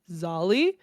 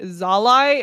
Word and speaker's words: Zali: to read and also there will be no discussion about how to say his name because it's just Zali. I don't know anybody who would read it and say zalai in which case what the is wrong with you?